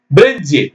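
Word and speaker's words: bridge: வார்த்தையில எதுக்குமே டிக்கு மட்டும் சத்தம் கிடையாது ஆனா எழுதணும் பிரிட்ஜ் பிஆர் ஐ டி ஜி இ அப்படின்னு எழுதணும் பிரிட்ஜ்னா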